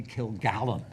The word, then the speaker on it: Kilgallen: She was Dorothy Kilgallen, not Dorothy Killigan.